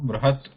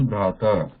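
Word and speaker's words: बृहत्: Bruhat that last ending we are trying to stop it abruptly because it is a consonant, Bruhat. So we are not pronouncing it as Brahata.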